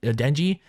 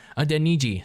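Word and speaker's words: Adeniji: that rotation of carmen and adenji a deniji sorry there we go now i'm pronouncing it right so i mean it's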